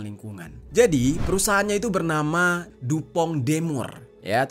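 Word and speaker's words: DuPont de Nemours: Jadi, perusahaannya itu bernama Dupong Demur ya, tulisannya sih Dupon Demous gitu. Tapi bacanya dupong demur yang biasa disingkat dengan dupong atau dupong ya.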